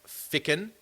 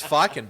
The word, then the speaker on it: Ficken: I'm looking for someone that Ficken can That's develop. boring when you say it right. It sounds wrong to me now too. It does. It's Fiken, baby.